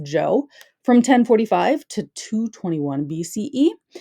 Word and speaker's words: Zhou: Yes, this is pronounced Zhou, from 1045 to 221 BCE.